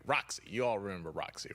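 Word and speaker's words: Rocsi: I was about to say it's spelled with an S, and I wanted to make sure I say it right. Roxy.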